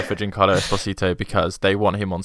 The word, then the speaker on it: Esposito: gonna go for uh giancarlo espinito just because he's like the big name in it you butchered that craig um i'm i'm gonna go for giancarlo esposito because they want him